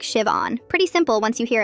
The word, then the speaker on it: Siobhan: The H is silent. It's pronounced like Shiv-on.